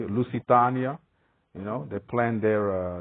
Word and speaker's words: Lusitania: planned their trip with the lisitiania saying it correctly Lucitania you know they planned